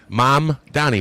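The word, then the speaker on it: Mamdani: Uh is going to be it's like the song the Irish song Donny Boy Danny Boy. Mom Donny Boy.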